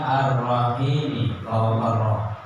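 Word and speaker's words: الرَّحِيمِ: huruf ro yang ketiga arrahimi pada bacaan arrahim arah di atasnya roh harus ada tash yang keempat Alhamdulillahi faqil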